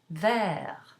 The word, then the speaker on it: vert: And so let's look at some words where the final consonant is not pronounced. Let's go back to our color green in the masculine singular. Vert, or the color white, blanc.